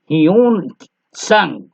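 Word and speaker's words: Hiuen Tsang: Chinese लोगों का, फिर भी देखिए सामने है, हियून संग एंड फा हिलान एंड छा ची छा छू एंड आई सिंग। टी T silent रहेगा, मुझे लगता है कि यहाँ पर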